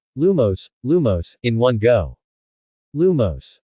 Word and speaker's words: lumos: tries then Professor Flitwick began to explain the pronunciation of the spell lumos lumos in one go lumos everyone followed suit